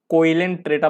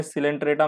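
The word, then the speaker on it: Coelenterata: ठीक है, पहले मैं सिलेंट्रेटा को कोइलेंट्रेटा पढ़ता था, उसका बाद में पता चला COEL में सिलेंट्रेटा में ये ओ साइलेंट है, मैं कोइलेंटेट्रेटा ऐसे करके पढ़ता था मैं इसको।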